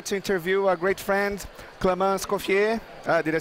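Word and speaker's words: Clément Escoffier: I'm here today to interview a great friend, Clément Scoffier.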